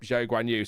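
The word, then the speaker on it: Guanyu: So for example during F2 we all called Zhao Guanu Guuha. Uh but then he said it's it's Guanu.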